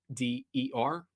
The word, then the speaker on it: Wooder: Now I'm known as Wooder Boy Productions, and Wooder is spelled Wooder. That's how we say it up here. We don't say water, we say Wooder.